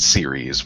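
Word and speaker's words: Ceres: think everyone can agree that's pronounced series with 2 long E sounds, so I just did the same with the planet name.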